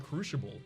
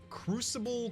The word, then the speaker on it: crucible: an attempt to inform your pronouncing the word crucible incorrectly it's not a sh sound that's said and crucify and the word is